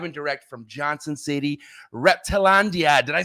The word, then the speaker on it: Reptilandia: We are live and direct from Johnson City, Reptilandia.